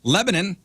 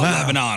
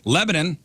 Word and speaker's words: Lebanon: From Lebanon. I said it right this time. Not Lebanon. I got corrected 1,000 times this morning. Lebanon.